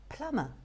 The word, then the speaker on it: plumber: that lead to confusion p-l-u-m-b-e-r and it's not plumber but plummer plumber this one q-u-a-y q-u-a-y